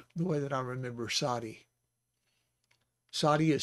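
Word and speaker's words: צדי: So it's Sa, A sound because of the Patak, Sa-di, Sadi.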